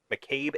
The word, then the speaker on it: McCabe: have not checked out Made and Mrs. Miller yet. That's how you say it. McCabe and Mrs.